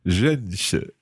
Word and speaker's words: 认识: It's tricky to pronounce the 认识.